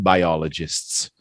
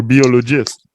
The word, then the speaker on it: biologist: a lot of the it's not biology or biologist it's by ah alien biologist biologist Jason